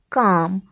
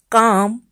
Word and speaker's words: calm: In calm L is silent, in calf L is